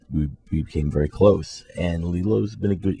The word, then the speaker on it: Lilo: Since kind of right after that, we became very close, and Lilo's been a good, Is that the proper pronunciation of his name? Lilo, not Lilo? Yeah, it's Lilo.